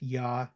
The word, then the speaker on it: Jah: Should all be pronounced Yah, because it's Yahweh.